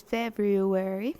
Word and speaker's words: February: bad one more time a little bit harder on the wear part so today is February 15th mhm that did